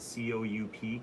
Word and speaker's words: Coup: there was a tournament of cou that spelled cou P coop but it's pronounced coup and that's a fun card based